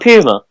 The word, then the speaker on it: Puma: Puma. You sure it's not Puma? Well, you can pronounce it either way, really.